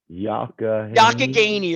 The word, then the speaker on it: Youghiogheny: The would you call it the Youghiogheny is how it's pronounced.